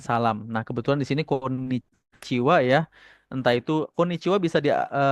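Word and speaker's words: こんにちは: Kenapa dibacanya wa ya? H di sini awalnya adalah partikel ya. Makanya dia dibacanya konnichiwa.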